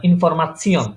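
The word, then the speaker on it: Information: জি স্টাসিয়ন যেমন ইনফরমাশন, ওটা স্টেশন আমরা ডয়েচে ইনফরমেশন আর ইংলিশে ইনফরমেশন দুটোটার বানান সেম, কিন্তু প্রনাউন্সিয়েশন ভিন্ন। আমরা যেটা ডয়েচে আমরা ইংলিশে বলি ইনফরমেশন, ওটাকে ডয়েচে বলে ইনফরমাশন। ঠিক আছে, তাহলে উচ্চারণগুলো আরেকবার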